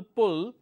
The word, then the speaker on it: pull: example on this so I have a word which is pull this is this usest short vowel sounds right now if I replace the short wall with long wall it will become pool so there is pull short wall pool long wall likewise we have cell